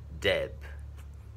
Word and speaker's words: dip: Dip, e. Dip, e. Dip, dip. À, không phải là deep mà là e.